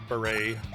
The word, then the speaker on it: beret: I know it's pronounced beret.